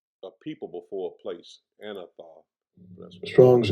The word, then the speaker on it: Anathoth: Let me make sure I'm pronouncing it correctly. Anathoth. Anathoth.